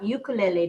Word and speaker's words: ukulele: ukulele means dancing fleas. That's so it's not ukulele now. The Hawaiian pronunciation is ukulele.